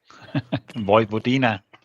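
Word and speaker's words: Vojvodina: Jesper, what's the name that how you pronounce that? Vivodina.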